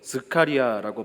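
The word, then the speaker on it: זכריה: 스가랴. 히브리어로 스카리아라고 발음을 하는데요. 그 단어의 뜻은 이름의 뜻은 여호와께서 기억하신다라는 뜻을 가지고 있습니다.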